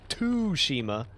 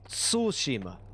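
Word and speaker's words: Tsushima: say that word though sushima sushima it's not t Shima it's sushima but I can't I can't get that that TSU pronunciation down in a in a uh distinctly Japanese manner yeah that that is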